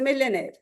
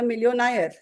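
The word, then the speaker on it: millionaire: ए आई आर ई I said it's अ मिलियर सो he said my teacher calls it अ मिलियनर नाउ and this was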